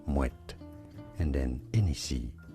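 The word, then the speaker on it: Moët: Yes, you do want to pronounce the T there, Moet.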